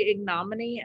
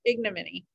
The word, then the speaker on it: ignominy: dead bodies number four i gotta remember how to pronounce it ignominy i wanna say ignominy and it's not right ignominy which is public shame